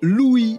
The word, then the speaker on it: LOOI: caisses de vous présenter Louis ça s'écrit l o o i c'est quoi c'est lui